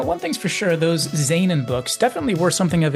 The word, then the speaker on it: Zaanan: And that was Zan, or as I would have pronounced it back then, Xan.